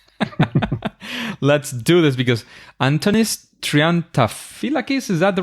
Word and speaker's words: Triantafyllakis: with people that I I don't care uh trianta fakis is the right way to pronounce it but uh please don't bother trianta